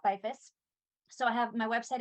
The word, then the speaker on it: Beyfuss: name since it doesn't it is not pronounced exactly how it's how it looks and social media website all that good stuff so pretty much everywhere I'm byfist so I have my